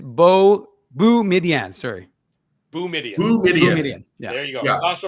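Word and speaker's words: Boumedienne: I think we have to also confirm with Sasha how to pronounce his last name because I've been saying Biden.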